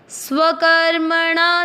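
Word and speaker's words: स्वकर्मणा: चरण को वापस ध्यान से रिपीट करते हैं स्व कर्मणा तम अभ्यर्थना चरण सी मात्रा के अंदर आधा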